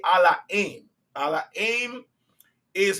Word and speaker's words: Ala'aym: Now, you might hear me say Allah aim. Allah aim is how we pronounce God in our language.